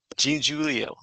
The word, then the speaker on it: Giangiulio: And today on I think it's my 43rd interview so far for our summit, we have Giangiulio with us.